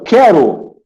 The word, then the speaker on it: quero: Então aqui, ó, quero é dígrafo porque eu não escuto o som do U.